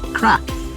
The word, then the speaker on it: Krap: So in Iceland they call this brand of slush crap. It's an awful crap. Yeah, so it's an icy crap. Yeah. Spelt with a K.